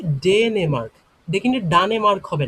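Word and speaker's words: Dänemark: আমার নাম হয় ডেনেমার্ক। আমি ডেনমার্ক থেকে এসেছি। এটা উচ্চারণ হবে কি? ডেনেমার্ক।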